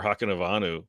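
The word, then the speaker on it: Hakunavanhu: receiving core, and Hakanavanu? Did I get it right? Yes, did I get it right? Yeah. All you have to do is just say it the way it's spelled.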